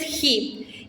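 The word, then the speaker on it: chi: La siguiente es ji. Ji es el sonido J.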